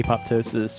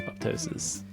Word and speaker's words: apoptosis: I I get it APO is is one half of the word and the the P to the sound is the second half so I understand that you would be tempted not to say it and I think it is perfectly acceptable not to um although